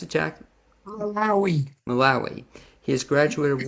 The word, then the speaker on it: Malawi: love, music, and mishaps in, how do you pronounce it, Jack? Malawi.